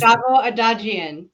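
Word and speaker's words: Shavo Odadjian: I don't know how to pronounce this name. Help me out. Shavo Adagian. And he is Shavo Adagian.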